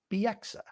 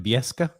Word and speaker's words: Bieksa: What do you used to call him? Kevin Bieska? I had it, but then, of course, you even butchered the butchered version, so I don't remember. He calls him Kevin Bieska. That's what he called him. Kevin Bieska, which is he was the only person to call him that, too.